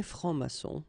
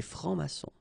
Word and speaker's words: francs-maçons: And then plural form, exactly the same rule. S here and S here. Des francs-maçons. And then you don't pronounce them. Des francs-maçons.